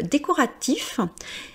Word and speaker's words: décoratif: Alors euh décoratif comme je vous ai dit de ne pas lire la dernière consonne, il y a souvent